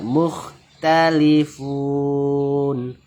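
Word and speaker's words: مختلفون: Fihi allazi hum fihi mukhtalifun. Mu bertemu dengan kha, tidak ada hukumnya, cukup dijelaskan kha sukunnya. Mukhtalifun.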